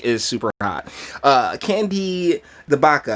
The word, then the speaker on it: CdeBaca: super hot can be the Baka I believe that C is silent sarcastic korone violet coronavirus